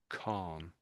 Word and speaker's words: Khan: So it's con Jill. Do you want to try it again? K. Chilly K. Con. Yeah, that's it. The last one. Khan.